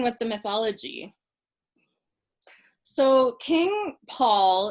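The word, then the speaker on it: Pwyll: So King Paul, in the Welsh, it's spelled I'll write it, P-W-Y-L-L, but it translates as Paul.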